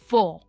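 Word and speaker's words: fore: इनकी प्रोनाउंसिएशन है 4। हम इसमें आर प्रोनाउंस नहीं करते, राइट? इट इज 4।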